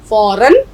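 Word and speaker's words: فوراً: तो फे वाव दो ज़बर फौ, रे अलिफ दो ज़बर रन, फौरन, यकीनन। तो ज़िम्नन, जैसे एक लफ्ज़ अगर हम लिखें ज़िम्नन, यानी यूं ही किसी का जिक्र आ गया।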